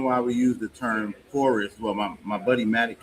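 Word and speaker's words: Fauxrest: Well, you can, but we usually call it forest.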